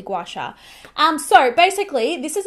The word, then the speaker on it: gua sha: i'm not butchering that i'm pretty sure that's how it's pronounced gua sha i used to think it was gweisha but it's definitely gouache um so basically this